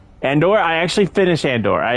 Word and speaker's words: Andor: It's so funny listening to the YouTube bot trying to read it. It says Endor. Endor. It can't pronounce it. Andor.